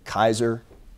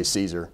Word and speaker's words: Caesar: Caesar, by the way, Caesar in Latin was actually Kaiser, although we say Caesar. It's a hard C in Latin.